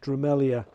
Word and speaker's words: Drumelzier: It's spelt Drumelzier, but it's pronounced Drumelzier.